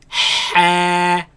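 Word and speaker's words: حاء: Next letter has alif at the end of it. Ha, Ha, ha, ha, ha. ha. Now this letter comes from the middle of the throat.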